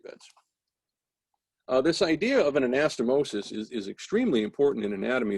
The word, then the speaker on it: anastomosis: and by the way anastomosis sis is singular anastomoses where it's ses that would be plural so if if it sounds like i'm crazy because they keep changing the pronunciation there's a reason for that anastomosis is single and s anastomoses is plural so there are a